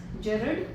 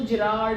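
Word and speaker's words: Gerrard: In share are to characters जेरड and intruder. इसको जिराड ऐसे करके प्रोनाउंस नहीं करना है। इट्स जेरड एंड इंटूडर।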